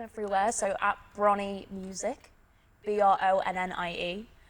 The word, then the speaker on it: Bronnie: Everyone always gets my name wrong. Like, someone called me Brian the other day, and I'm like, how the hell does Bronnie sound like Brian? And all the Americans are like Ronnie.